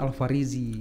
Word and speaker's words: Alfarezi: Alvarezi apa Alvarezi? Secara ini sebenarnya pengucapan Alvarezi. Alvarezi, karena kan double E gitu kan?